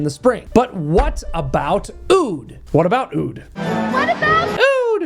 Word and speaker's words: Aoud: Oud lemon mint, or Aoud lemon mint, however you want to pronounce it, because it's spelled with an A, but I believe it is still pronounced oud, contains the obvious lemon,